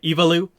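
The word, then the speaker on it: Aivalu: Woman's name is uh evalu for anyone wondering that is a i v a l u and that is the pronunciation from the audiobook as well um so she's not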